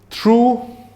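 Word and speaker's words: thorough: थ्रू, second one को हम गलत प्रोनाउंस ना करते हो, दिस इज थर, हाँ जी, थर प्रोनाउंसिएशन है इसका।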